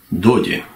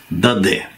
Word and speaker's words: Доде: Мы, конечно, привыкли к иному произношению его фамилии и слышали его часто из уст наших соотечественников именно в таком произношении: Альфонс Даде, с твердым «э» на конце. Ну, уж вот так произносится его настоящая фамилия на французском языке, что, впрочем, неудивительно, мы уже не раз отмечали особенности произношения фамилий иностранных авторов их соотечественниками. Вот так и с Альфонсом Доди.